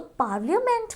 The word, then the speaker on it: parliament: Okay, तो पार्लियामेंट में हमें उस जो LIA है उस A का बहुत ज़्यादा स्ट्रेसफुल साउंड नहीं बनाना है, बहुत ज़्यादा स्ट्रेस नहीं करना है A पे। PARLIAMENT, पार्लियामेंट, इट्स नॉट पार्लियामेंट।